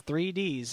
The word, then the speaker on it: 3 D's: It's the number 3, then D apostrophe S. So it's 3 D's.